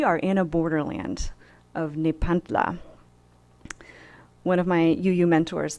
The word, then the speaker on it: Nepantla: It's spelled Nepantla, Nepantla. And you're welcome to try out this word with me. This is by invitation. We can say it together. It's Nepantla.